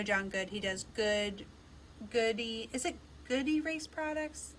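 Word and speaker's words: Goode: his business well his his last name is spelled g-o-o-d-e and i used to call him goody on the mic and of course it's not it's good and they always made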